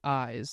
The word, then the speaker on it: Ize: The artist is Eyes. It's spelled IZE.